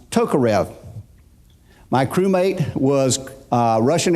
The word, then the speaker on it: Tokarev: this name is if is not pronounced the way we would pronounce it here in the United States but it's pronounced Tokarev my crewmate was a Russian Air Force Colonel Valerie Ivanovich Tokarev he wrote the Russian